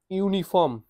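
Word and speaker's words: uniform: এন আসবে ঠিক আছে ইউনিফর্ম ইউনিফর্ম ইউ নিফ ইউর মতন ইউর মত উচ্চারণ আসে তাহলে এখানে এ আসবে এন আসবে না ইউনি ভাওয়েল বাট এখানে এন আসার কথা কিন্তু এন আসবে না বিকজ এটার যে স্পেলিং উচ্চারণটা ইউনিফম ঠিক আছে ইউর মতন উচ্চারণ আসে ওয়াই এর মতন উচ্চারণ আসে তাই।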